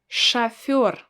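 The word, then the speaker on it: шофёр: we have a word shafir shafir again i don't pronounce o as it's written i pronounce it as a because it's not stressed chaffor so this is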